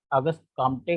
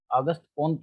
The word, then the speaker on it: Auguste Comte: बार नहीं करते हैं, क्योंकि फ्रांसीसी भाषा में अगस्त काम्टे का जो सही उच्चारण है वो अगस्त कोंत है।